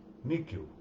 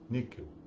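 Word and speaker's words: nihil: das notas a palavra níquel n i h i l níquel fala-se como se fosse um um k pequeno ou um q rapidamente falado mas se se pronunciarem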